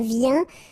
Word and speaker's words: viens: Je viens. Final S not pronounced, okay? When you combine this IEN, you get this yen, yen.